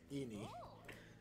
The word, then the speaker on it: Ann: I thought you were talking about Lady Anne. It's pronounced Eni.